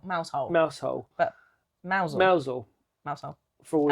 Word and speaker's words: Mousehole: Mousehole. But Mousehole. Mousehole. For all and of we drove past Cornish Mousehole.